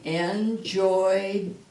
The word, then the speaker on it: enjoyed: So that you spell it with the ed, but you only pronounce the d.